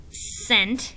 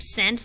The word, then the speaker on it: scent: Yeah, you don't hear the C. Yeah, all you hear is the S.